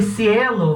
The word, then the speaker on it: cielo: e nesse caso aqui mas atenção ds ela vai ser pronunciada como se você tivesse a língua presa então vai ser deve ser cerveja você vai falar ter vista de menta e cielo vai falar cielo cielo vão ser besta e